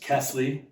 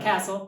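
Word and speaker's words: Kästle: It's pronounced Kesley, not Castle or Kesla.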